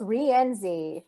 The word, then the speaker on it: Rienzi: I'd like to introduce you to Rienzi. How are you doing? I'm doing great. Thank you so much for having me, Jeff. Did I butcher your name? No, you're very close. Rienzi. Rienzi.